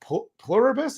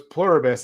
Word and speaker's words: Pluribus: Plurus I think it's pronounced. It's like you know the the saying plurus unum on the Yeah. So it's pluribus.